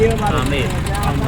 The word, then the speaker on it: Amer: A and B, but local people said Amer. B is silent sometimes.